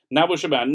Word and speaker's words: Nabil Shaban: Should be pronounced Nabil Shaban.